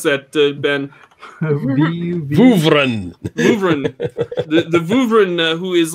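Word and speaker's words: Vuvrian: Oh, the I'm sorry, Vuvurian? V-U-V-R-I-A-N? What is that? How do you pronounce that, Ben? Vuvren.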